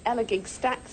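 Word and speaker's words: Elegug Stacks: There's Annika's start at Elagig Stacks. It's pronounced gig, I'm reliably told.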